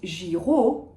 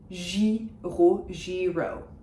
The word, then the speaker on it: Giraud: So Brigitte, soft J, Brigitte, Giraud. You have the final D, which is silent, following every normal rule, and you have that vowel cluster of AU, which is making the sound O.